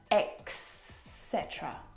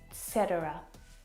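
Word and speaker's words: et cetera: actually mess this up as well and they'll pronounce X cetera or X cetera and it should be pronounced etc etc etc or etc if you're like me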